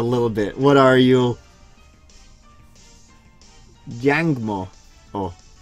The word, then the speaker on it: Jangmo-o: In Tagalog, which is the language of the Philippines, two letters back to back, you don't even need to put the hyphen between them. They would pronounce it o-o. But I suppose in trying to keep Pacific Islander style language from being... he might have been called Jang Mu if they didn't put the hyphen in there, because people don't